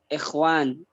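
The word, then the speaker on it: إخوان: Jamaknya bisa ikhwan. Tulisannya sama, tapi dia di kasroh. Alifnya di kasroh. Ikhwan, tapi khawanya di sukun. Kalau musanna akhawan.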